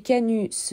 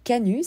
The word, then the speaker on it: canut: la soie sur les machines à tisser ces Canu se nommait eux-mêmes ouvriers de la fabrique au sein